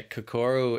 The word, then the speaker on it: Kokoro: it um there's kokoro which is yeah yeah kokoro is the my it's my final project film